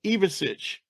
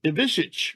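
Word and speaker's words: Ivišić: by the way it's now they want it pronounced evasic uh people always said iich but now it's iich I got that straightened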